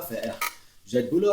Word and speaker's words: faire: Esse Ezinho aqui não pronuncia. J'ai du boulot à faire.